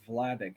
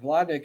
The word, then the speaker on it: Vladek: interview his father uh i think it's vladic is how you pronounce his name it's v-l-a-d-e-k uh in 1978 and